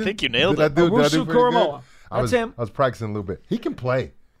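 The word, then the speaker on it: Owusu-Koramoah: Owusu Koramoah.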